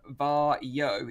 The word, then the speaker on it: Varjo: to release next year it's actually pronounced bar yo even though it's spelt var Jo and apparently it means